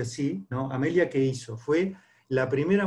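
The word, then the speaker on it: Earhart: opuestos tenemos una mujer que desafía amelia es cartero que se pronuncia así a media que hizo fue la primera mujer que tomó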